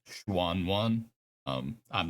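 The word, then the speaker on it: Xuan: the juan juan sword it spelled x-u-a-n and the proper pronunciation is schwann one um i'm not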